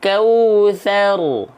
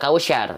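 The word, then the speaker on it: الكوثر: bareng-bareng ya ya innaal kautar Inna Aal kautar oke sekarang dari contoh pelafalan Sebelum kita lanjutkan ke ayat 2 ya Bukan kausyar ini ini bukan ini bukan syin ini ta ya bukan Syar ya Oke Bukan innaakal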